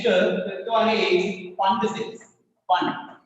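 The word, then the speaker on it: Pfund: Fund. P silent letter.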